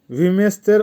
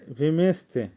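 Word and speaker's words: вместе: ভিমেস্তে, ভিমেস্তের অর্থ হবে একসাথে। উচ্চারণ হবে ভিমেস্তে।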